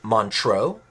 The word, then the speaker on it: Montreux: a small town called in american english montreal in french because it was the french-speaking part of switzerland i believe it's montreux correct me if i'm wrong my french pronunciation is not very good so montreal or montreux